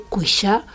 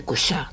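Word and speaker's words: Cuixà: Y el monasterio es ese precioso eh monasterio de San Miguel de Cuisha o de Cusá, depende como quieras la pronunciación.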